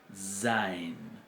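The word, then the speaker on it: zayin: Porque no es una Z propiamente dicha, sino es lo que se llama una fricativa alveolar sonora o sibilante, que es zai, zain, zain. Es como el sonido que haríamos si intentamos imitar un mosquito o un moscardón, ¿verdad?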